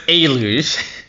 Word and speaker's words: Eluge: I I think it's I pronounce it like deluge without the d, you know. So, it's alouge.